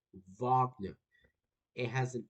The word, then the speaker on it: Wagner: So pronounce this as a V, y'all, okay? Because it's a it, it's a V sound, Wagner.